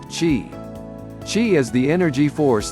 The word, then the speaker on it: qi: circulate the Chinese call this energy flow Qi pronounced Qi Qi is the energy force that supports all